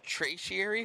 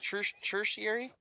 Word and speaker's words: tertiary: No, it's the it's traciary. How do you say it? I don't know. How do you say it, honey? What's You said second tertiary. Yeah. Tertiary. That's how you say it.